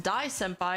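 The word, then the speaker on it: 大先輩: range they are oh Dia Senpai is pronounced d Senpai and it basically means great Senpai hope that helps oh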